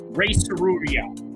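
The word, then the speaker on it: Rei Tsuruya: up right next Ray serua that's how you say his name Ray okay so we'll try and remember that Soria I tell you what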